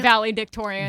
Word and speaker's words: valedictorian: Valedictorian. Valedictorian. It's valedictorian. So you were not. You're saying valley and then dick.